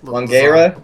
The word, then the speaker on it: Langara: I think it's Langara. Someone just typed it. Jason. Lasagna. Jason, one man, if you're not trolling us, it's Langara.